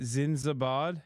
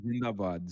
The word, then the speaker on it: Zindabad: Zinzabad? It's called Zindabad. Zindabad means long live.